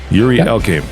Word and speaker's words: Yuri Elkaim: Yuri Elkaim. Did I pronounce it right?